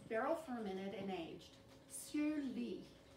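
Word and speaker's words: lies: And that's where it's barrel fermented and aged, sur lee. The lee is spelled L-I-E-S. It's a fun little French word.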